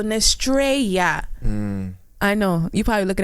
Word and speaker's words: Nestreya: gonna use the TR we're gonna use the e y a but the same pronunciation as Estrella and we're going to use Ness so nestreia I know you're probably